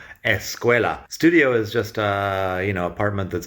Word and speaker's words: escuela: A lot of words that begin with ST or SP or S plus another consonant in English, in Spanish they have an E at the beginning. So school is escuela. They don't really pronounce the SC at the beginning of the word very well. So escuela.